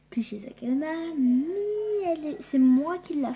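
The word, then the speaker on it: 口裂け女: Ensuite, en fait, ça se prononce Kushisake Onna.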